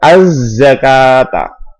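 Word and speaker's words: الزكاة: Za di sini adalah huruf syamsi. Asy-syamsiyah bisa dikatakan idgham syamsi. Cara membacanya dimasukkan az-zakata.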